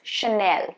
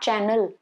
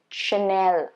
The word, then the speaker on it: Chanel: okay not versailles versace now this one is chanel not channel there is no double n chanel okay sure not not chanel louis vuitton so